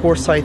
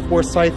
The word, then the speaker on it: Forsyth: through a spot called forsyth park i know i said it wrong in the vlog apparently it's forsyth not forsyth english language weird but whatever